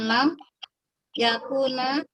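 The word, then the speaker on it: لم يكن: Faman lam yakuna yusolli wa yaqra'u wa aqimu as-shalah. Yang salah. Lam huruf jasem Bu, kayak lam yalid. Maka bacanya mestinya lam yakun.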